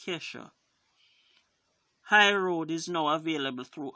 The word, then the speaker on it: Kesha: Ke$ha website so it's it's not Trisha its Ke$ha I know this because I'm a fan it's it's pronounced Ke$ha highroad is now available